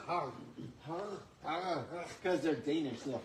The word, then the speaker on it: HAY: By the way, the couch soles, the hay couches, I think we may have told you about that. Apparently they're pronounced har.